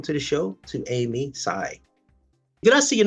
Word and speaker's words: Tsai: to say welcome to the show to Amy Sai did I see your name correctly you know